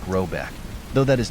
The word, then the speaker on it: Rabuk: The manor house, or hergård, in question is to be called Rabuk, pronounced something like Robeck, though that is not its name.